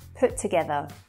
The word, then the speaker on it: put together: So to make it easier, that first one comes away and we say put together.